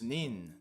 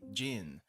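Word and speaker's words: 人: person as you know person has uh several pronunciations nin Jin HTO hito I guess is a hito is the the word by itself but um first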